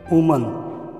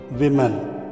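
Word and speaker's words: woman: यहाँ पर हम प्रोनाउंसिएशन में गलती करते हैं कि वुमैन पढ़ते हैं, वुमैन नहीं पढ़ना चाहिए, वुमन पढ़ना चाहिए, और इसकी जमा को वुमेन पढ़ते हैं, वुमेन नहीं है विमेन।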